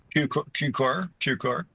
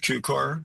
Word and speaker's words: Cukor: And I've got to get this right because you're you're very specific about the pronunciation in the book. Cuc. Is that correct? Cucor. Yeah. You like Cubal. Cucor.